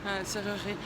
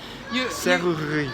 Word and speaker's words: Serrurerie: I consider this to be the hardest word to pronounce in the French language. Serrurerie. Yeah. Serrurerie. Serrurerie. Yeah, you don't say the E in the middle.